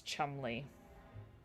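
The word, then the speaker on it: Cholmondeley: I would not have thought that the way to pronounce that is Chumley.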